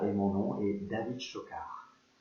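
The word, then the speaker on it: Schockaerd: Voilà, et mon nom est David Chocard. Chocard, ça s'écrit S-C-H-O-C-K-A-E-R-D.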